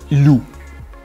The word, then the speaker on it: loup: Ou encore plus absurde, on écrit loup avec un P muet à la fin. Pourquoi? Au féminin, c'est pas une loupe, c'est une louve. Si on suivait la même logique, il faudrait écrire loup avec un V muet à la fin.